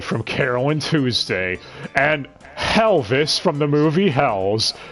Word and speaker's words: Helvis: Nanbu is voiced by Jason Marnoka, who's Gus Goldman from Carol and Tuesday, and Helvis from the movie Hells. That name rhymes with Elvis, that's why I threw it in here.